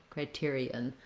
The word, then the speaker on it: criterion: And then we have, for the ON, a schwa, sounds like criterion. So these last syllables and the first syllable are going to be quite quick. When we make it plural, criteria, then we just basically drop the N sound, but you'll see criteria has the same stress pattern and the same first three syllables.